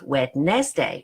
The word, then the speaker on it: Wednesday: Okay, the N sounds like it comes before the D. No, it's Wednesday.